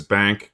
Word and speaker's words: BVNK: I think some people pronounce this group as bank because the V is kind of a play on the words, but I'm just going to say BVNK.